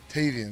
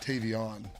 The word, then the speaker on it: Tavian: And his name is uh Tavian, not Tavon.